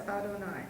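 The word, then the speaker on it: אֲדֹנָי: Don't pronounce that. Okay, that's Adonai.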